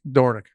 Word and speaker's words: Dornoch: Dornoch. Dornoch. Dornoch. If he's it's named after a Scottish golf course, Royal Dornoch, in the town of Dornoch. So you say it like Dornoch.